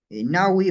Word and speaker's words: ñawi: Por ejemplo, ustedes saben el término ojo, se dice nawi o ñawi, dependiendo de la pronunciación, pero en la escritura una sola, ¿ya?